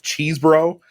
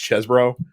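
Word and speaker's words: Chesebro: Powell and and Kenneth cheese bro um by the way I found out that his his last name is pronounced chesbro actually um but cheese bro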